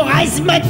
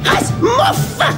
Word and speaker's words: Razmof: Comment osez-vous utiliser le mot Razmoth devant moi? Mon nom se prononce Razmof.